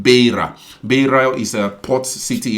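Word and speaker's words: Beira: you actually helped me I get the right pronunciation called Baya Baya is a port city in mosambique that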